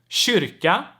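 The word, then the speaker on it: kyrka: one let's talk about the k sound in front of soft vowels right and i have a few examples here with each vowel that's why i want to talk about this letter separately so we have shia shia which means chain we have shika shika which means basically to look to um to pier and then we have shurika shirika which means church we have shalik shah which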